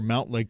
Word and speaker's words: Mountlake: notice the pattern yes people who actually live near Mountlake Terrace know it's melt Lake Terrace oh yes I thought you were about to say Co 206 area code sent Montlake yeah everybody in the three six oh and four to five which is where Mountlake Terrace is says it's mount Lake so Seattle lights you